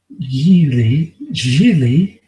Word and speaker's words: Gigli: about a gangster named Larry Yeezy rhymes with really I was working for